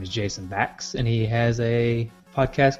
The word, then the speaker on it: Bax: Bax with an X, B-A-X. Rhymes with tax.